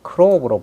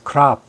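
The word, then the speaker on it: crop: 크랍이라고 하는 것은 우리가 크롭으로 발음을 하는 분이 많이 계신데, 미국식 발음은 오는 발음이 납니다. 그래서 크랍 이렇게 합니다.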